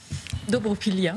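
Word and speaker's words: Dobropillia: Est-ce que je prononce correctement ? Dobropilia.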